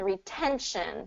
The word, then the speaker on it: retention: t all right and then retention same here same thing here surrounded by vowels but it's the stress syllable so Ren so